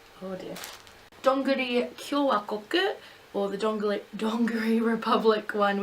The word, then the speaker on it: Kyowakoku: Kyowakoku. There we go, I got it. Anyway, it's pretty much Donguri Republic. It's the Studio Ghibli merchandise store, and or Studio Ghibli, I should say. Oh dear. Donguri Kyowakoku, or the Donguri Republic one, which is like